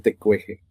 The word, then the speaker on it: Tecuexe: pues vamos a a respetar la fonética de la pronunciación tecueje.